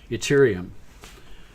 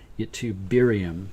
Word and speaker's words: ytterbium: Ytterium, ytterbium, it's a hard one to pronounce.